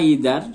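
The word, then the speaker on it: either: আইদার my brothers or my uncle, এখানে আইদার বা ইদার দুটোই উচ্চারণ করা যায়।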